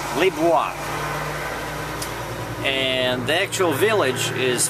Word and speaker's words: Liboire: Luis, that's the way they pronounce it in French, Libu. And it's spelled L I B O I R E. Librii. Libir.